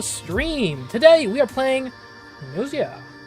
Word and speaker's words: Gnosia: Today we are playing Nosia. Uh, I think that's how you pronounce it. I mean, silent G's are always kind of I mean, it could be Gnosia, but I don't think so.